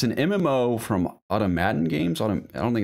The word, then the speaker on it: Automaton: It's an MMO from Automaton Games. I don't think it's Automation. Automata. Oh, wait. I think it's Automaton Games. I'm pretty sure that's pronounced automaton. Sure. Like Fallout 4 Automaton DLC.